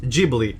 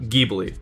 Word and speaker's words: Ghibli: with films made by studio ghibli and it's pronounced jeebily not gheebly lots of people grew up with the movies